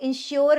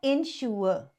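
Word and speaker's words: ensure: से स्टार्ट होता है इसको इंश्योर नहीं बोलते इसको बोलते हैं इंशोर इंशोर नेक्स्ट जो ए से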